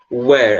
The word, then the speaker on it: where: Pessoal, a palavra a gente pronuncia where, tá certo? Where. É como se fosse um U, né? U-air, né? Where. Certo? Essa é a pronúncia correta dessa palavrinha que eu coloquei aí, tá?